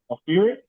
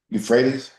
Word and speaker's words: Euphrates: Broke Egypt to the Euphrates. How do you say that? Euphrates?